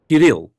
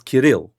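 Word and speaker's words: Kirill: Kiril, you put the pronunciation on the second syllable, not the first. It's Kil.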